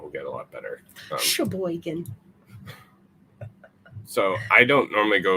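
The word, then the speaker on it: Cheboygan: Yeah, but Sheboygan in Michigan is spelled with a C. C-H-E Boygan. Sheboygan. There's also Toppinabee.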